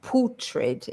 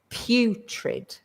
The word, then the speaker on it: putrid: have to, it's not putrid, it's putrid. So we start with the P, and then that U is the same pronunciation as not he or she or I, but you. So it's putrid, putrid.